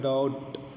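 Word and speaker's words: doubt: हमने ये बताया था टी से पहले बी है तो फिर यहां पर भी बी नहीं पढ़ी जाएगी साइलेंट रहेगी तो हो जाएगा डॉट माने शक डॉट्स मी्स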